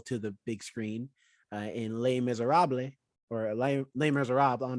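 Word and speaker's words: Les Misérables: Yeah, I think the French technically is like Les Miserables. I don't know. I don't speak French. There's an accent aigu over the E, which in French means that E is pronounced A, but I don't.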